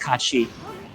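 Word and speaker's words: Cait Sith: The interesting, because of how Scottish and Japanese works, though, one thing they miss is it's actually pronounced Kachi. It's not actually pronounced Kate Sith.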